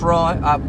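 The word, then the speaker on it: rượu: That is that that that includes rice r uh rice wine uh which which in Vietnamese is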